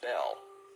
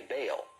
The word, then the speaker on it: Bel: mackie's encyclopedia freemasonry bell spelled b-e-l is usually pronounced bell but both strong in his hebrew dictionary and fairy bin in his prefer to say baal the word is probably